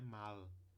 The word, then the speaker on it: mal: com ditongo mau e o advérbio é pronunciado com uma consoante aqui lateral no final só que não é essa consoante porque não é mala não é só colocar a ponta da língua lá atrás dos dentes ou nos alvéolos Ele é pronunciado mal além de se colocar a